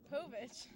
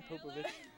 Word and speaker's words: Povich: maury who marie popovich i think it's povich i say popovich i had an extra syllable in there for no reason it's like a soap